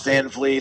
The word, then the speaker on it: Van Vliet: I'm still, at that point where I'm like, no, it's Van Vliet. I know it's spelled funny.